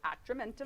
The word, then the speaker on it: Atramentum: How do you pronounce that? Operation Atramentum? Atramentum.